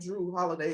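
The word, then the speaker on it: Jrue Holiday: Yeah, so you know they're all J, so it's spelled like Drew Holiday. It's J-R.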